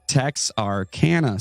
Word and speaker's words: Texarkana: work either then he said yes getting better techs are canada so it's texas arkansas louisiana okay all right